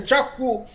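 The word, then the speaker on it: Kyaukphyu: Bangladesh, be it at your Chakfu, or it's written as Kyakfu, but it is pronounced as Chakfu, or Djibouti, or Gwadar, all these places, and the east coast of Africa.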